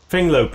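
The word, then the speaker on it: Fenglope: Finglope, yeah.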